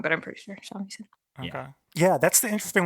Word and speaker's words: shamisen: And hey, speaking of magic things, Kubo plays a magical shamisen. Definitely know how to pronounce that. That's what it's called? Japanese is very like as it sounds.